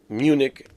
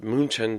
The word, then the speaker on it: München: Now, let's talk about the other semifinal, held in Munich, or München, the way you want to pronounce it, Germany, at the Allianz Arena.